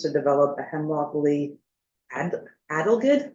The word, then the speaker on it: adelgid: the town's intentions to develop a hemlock woolly adelgid, how do you say that word? Adelgid.